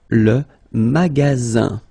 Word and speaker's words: magasin: Le magasin. Okay, remember you've got only one S between two vowels. Then you get the sound Z, alright?